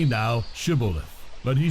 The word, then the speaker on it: shibboleth: then they would say to him say now shibboleth but he said sibilith for he could not pronounce it correctly Then They seized him and